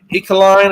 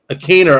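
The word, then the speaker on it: Ikhine: The other one was to the other guy, Ekeline. Is that how you say his last name? Ekeline? Westbrook Akiner. Akiner.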